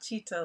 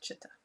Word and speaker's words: chitta: chitta i recently learned it's pronounced not cheetah like we all say if you're familiar with the teachings in this area in sanskrit it's chitta and so chitta's mind